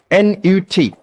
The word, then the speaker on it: Nut: Como você soletra isso? N-U-T. Pronunciado Nut. Algumas pessoas escrevem N-O-U-T.